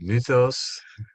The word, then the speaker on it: mythos: to help us navigate um the world of muthos and she just corrected me in my pronunciation thank you versus logos uh so i